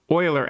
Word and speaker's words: Euler: be your angle and this this term called euler angles that's how you pronounce this name this is the name of